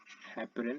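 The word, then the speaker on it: heparin: Then ये एक चीज़ और प्रोड्यूस करता है जिसको हम लोग बोलते हैं हेपरिन। हेपरिन का मतलब क्या रहता है, हेपरिन या हेपेरिन जो भी आप प्रोनाउंस करें, है ना।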